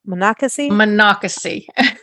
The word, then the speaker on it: Monocacy: And so is it Monocacy? Am I saying it right? I know there's Manassas, Monocacy. Monocacy. Okay, Monocacy.